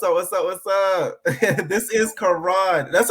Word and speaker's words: Ka'ron: This is Karan. That's how you pronounce it, right? Karan, right? Karan, yep.